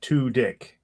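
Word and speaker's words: Tudyk: Um, on an IMDb they actually wrote here his last name is pronounced to dick. T O slash d i c k. That is sexy. Two dick.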